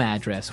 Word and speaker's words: address: So, different from your home address, where you live. Yeah, and there the stress is on the first syllable. Address.